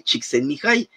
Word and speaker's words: Csikszentmihalyi: muchas letras y todo, porque es de origen húngaro, y él decía eso, o sea, sí es cierto, eso me ha pasado, y mi nombre se pronuncia así, Mihai Csikszentmihalyi, pero si se les complica mucho me pueden llamar Miki.